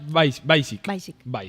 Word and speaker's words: Weissig: fuerte aplauso para Lorena Weissig. Lorena, Lore, bienvenida. Gracias, ¿Lo pronuncié bien el apellido? Weissig. ¿Es Weissig? Sí, tiene su pronunciación en polaco, entonces es raro, son más consonantes que vocales, claro.